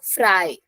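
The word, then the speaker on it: frei: Then EI will become I, so fry.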